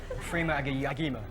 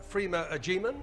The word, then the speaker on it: Freema Agyeman: Slightly dodgy pronunciation, but yes, your answer, Freema Agyeman, is correct.